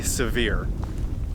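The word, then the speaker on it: Sevier: called severe lake and it's spelled like severe but I believe people say severe this lake is large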